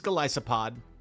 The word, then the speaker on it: Golisopod: It is Golisopod.